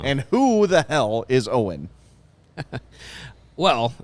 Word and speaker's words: Owyn: who the hell is owen well it's uh it's not own power it is not uh it's not owen hart skype point it is spelled o-w-y-n standing for only what